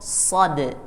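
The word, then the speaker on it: صاد: alasah lihat ya jadi pengucapan shad-nya tebal karena pangkal lidahnya naik jadi kalau kita cuman bergumam pakai Shad itu bunyinya seperti ini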